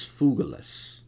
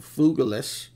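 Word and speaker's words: Phygelus: particular figures uh and the pronoun the correct pronunciation is fugilis um and fugilus you could say feiglous if you want um his name means uh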